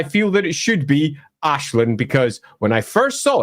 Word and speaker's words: Aislinn: We just see that name and we're like, "That's Ashlin. It's Ashlin."